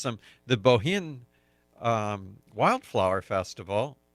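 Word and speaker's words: Bohinj: The Bohin Wildflower Festival, Bohin has a J at the end of it. No, that's like Bjorn.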